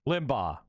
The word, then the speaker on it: Limbaugh: Limbaugh.